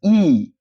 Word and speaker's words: y: It's no longer pronounced as Y. It's pronounced as E.